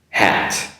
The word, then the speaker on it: hat: Hot, hat. In reverse, hat, hot. Okay, that's the first one. Don't forget H-O-T, hot, and H-A-T, hat.